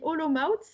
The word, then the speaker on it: Olomouc: j'en suis pas sûr je crois qu'on dit aux laumes out ça s'écrit olomouc et c'est aujourd'hui en